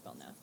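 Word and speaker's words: Belknap: be back at Bel is it belnap or bellnap bellnap I think it's belnap I think belnap belnap okay silent k I believe got it Bel going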